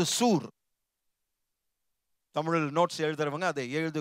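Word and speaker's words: צור: அதை ப்ரொனவுன்ஸ் பண்ணும்போது சூர், தமிழில் நோட்ஸ் எழுதுறவங்க அதை எழுதி கொள்ளுங்கள்.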